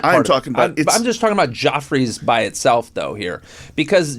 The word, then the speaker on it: Geoffrey's: It should be pronounced Jeffrey, but he pronounced it Joffre, so we call it Joffrey's.